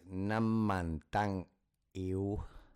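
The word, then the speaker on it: น้ำมันตังอิ๊ว: It's Nam-man-tang-eu. Ew. Very much a I for the I. Nam-man-tang-eu. Thank you for that immediate refinement. You are absolutely our pronunciation hero today. Yes, Nam-man-tang-u is indeed closer to Nam-man-tang-u. That U sound at the end makes all the difference.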